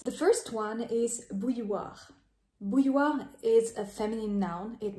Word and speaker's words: bouilloire: pronounce it so bu the first part boo just like boo I scared you right Boo then you have